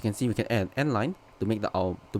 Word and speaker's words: endl: n line so this whole thing is actually pronounced as n line yeah so if i was to run it